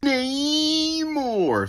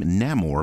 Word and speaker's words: Namor: way back in 1939 he came up with the name Namor by writing the word Roman backwards that should be your